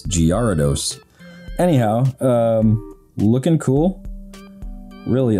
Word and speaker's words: Gyarados: like two years ago i always thought it was uh like spelled like g-a-r-y gary dose but it's totally wrong it's giardos anyhow um looking cool